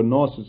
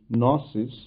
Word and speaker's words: gnosis: language means knowledge and i am purposely pronouncing it as a gnosis actually in the english language the g is not pronounced so it would be gnosis and this word gnosis